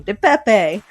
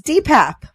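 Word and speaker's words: DePape: very concerned about people like me calling him de Pepe and wanted to make sure everyone knew the correct pronunciation of his name is dpap because that's all the important information he needed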